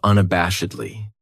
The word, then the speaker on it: unabashedly: Then we have unabashedly. This adverb has 5 syllables, and the stress is on that third syllable. That bash, unabashedly. That second syllable has that schwa. That sound, unabashedly.